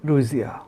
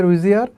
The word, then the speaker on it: Ruijie: কেউ বলতেছে রুইজি ই, কেউ বলতেছে রুইজি আ, কেউ বলতেছে রুইজি। উচ্চারণটা আই থিঙ্ক রুইজিয়া।